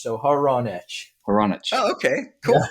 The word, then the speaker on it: Hronich: Yeah, I go by whatever you say, but how it's pronounced would be your friend Ron, and an itch. So Hronich.